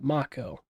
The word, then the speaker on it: Mako: Yeah, Mako.